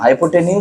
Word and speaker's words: hypotenuse: हाँ correct pronunciation बोलो। हाँ, हाइपोटेन्यूज side test, हाइपोटेन्यूज side test, बस खत्म।